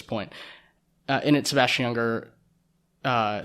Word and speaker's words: Junger: book tribe by sebastian younger um maybe junger i'm pretty sure it would be pronounced with the y but who knows uh in that what